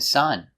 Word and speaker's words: sun: Our first example is sun and sun. The sun in the sky is spelled with a U, so we pronounce it with a short the short U sound, sun.